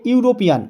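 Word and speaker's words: European: thing A unicorn a ইউরোপিয়ান এখানে ই দিয়ে শুরু হয়েছে ভাওয়েল দিয়ে কিন্তু আমরা এন না বসে এ বসাবো ইউ কারণ উচ্চারণটি হয়েছে ইউ তাহলে এ ইউরোপিয়ান এন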